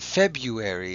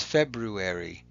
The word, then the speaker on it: February: at that one and remember it's not February it's February if you say it correctly you'll be able to spell it correctly too the next one